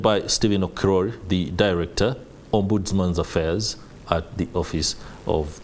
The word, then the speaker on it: Ombudsman: In studio, I'm joined by Stephen Okiror, the Director, Ombudsman Affairs at the Office of the Inspector General.